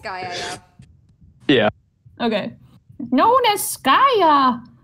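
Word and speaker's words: Skaia: It's Skya, Yeah.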